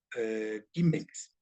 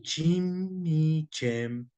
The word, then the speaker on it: cimex: decir quiniquem, miquis o quimex, ¿sí? Pero si nos vamos a la pronunciación eclesiástica del latín, se dice chimichem.